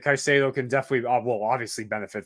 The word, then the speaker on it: Caicedo: Is it Caicedo? Sorry, Caicedo.